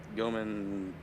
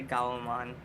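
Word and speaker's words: Gaomon: Goman P something. It's like I think it's a 15-inch. I don't know what Titan uses. How we pronounce it differently. I know. He says Goman and I say Gaoman.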